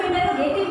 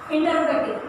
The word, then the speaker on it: interrogative: हम इसको इंटरोगेटिव बोलते हैं, लेकिन इंटरोगेटिव गलत वर्ड है. हमें इंटरोगेटिव बोलना है, हमें गे नहीं बोलना है, हमें ग वर्ड यूज करना है, इंटरोगेटिव बोलना है.